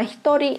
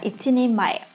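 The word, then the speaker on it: 一人前: Các bạn nhớ là với trường hợp này chúng ta không đọc là hitori mà các bạn sẽ phải đọc là ichini mae.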